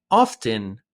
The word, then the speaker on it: often: Remember that to sound like a native speaker, the word often is better pronounced without the T, but often with the T is still acceptable.